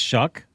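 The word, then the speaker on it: Shough: is that how you say it? It's Shuck.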